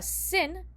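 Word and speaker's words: שׂ: And that is a sign that it's actually a sin, and it's pronounced with the s sound, just like the samech.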